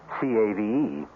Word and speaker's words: cave: i equate cave with the latin word spelled the same way c-a-v-e but pronounced cave it means beware our cast included marion